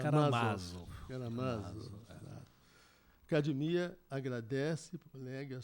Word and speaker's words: Karamazov: Todo mundo fala Karamazov, mas dos na irmãos verdade é Karamazov.